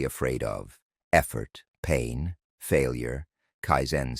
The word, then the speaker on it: kaizen: The second principle is called kaizen pronounced kaizen.